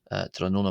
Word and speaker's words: tráthnóna: trona mo trona mo trona moi uh and interestingly